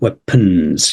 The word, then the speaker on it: weapons: embargo third one is weapons because of that EA I mean that can be trick weapons and also the O you don't need to say the o sound weapons you know it's shortened